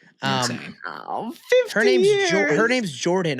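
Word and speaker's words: Jordon: It is J O R D O N Hudson. Jordan Hudson like Gordon.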